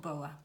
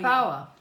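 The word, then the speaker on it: Bowa: And Boa is a name that comes from my childhood. And the band I had in France was called Boa. It's spelled B-O-W-A. So it's B-O-W-A. Oh, like Bauer.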